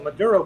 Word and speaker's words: Maduro: Uh it's a Dero Daro Madur It's a Maduro but it it it's spelled with the M A D U R D O R O anyway.